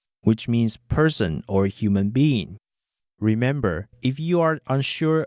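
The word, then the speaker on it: 八: The number 8 is called bei.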